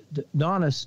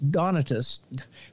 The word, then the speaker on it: Donatus: he had with it the Donis donatus pronounce it right um and that the